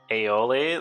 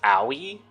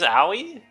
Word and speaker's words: Aoi: enough anymore yeah yeah anytime soon it's impossible aioli that's her name isn't it her name's dude how am I supposed to pronounce aoi it's just not possible her name